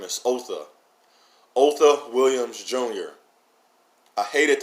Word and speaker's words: Otha: So Otha, O-T-H-O, which is pronounced O-T-H-E, like the word the, T-H-E, Otha.